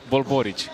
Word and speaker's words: Borici: Bulbboric. See, the accent is on the first part of the name, not not the last.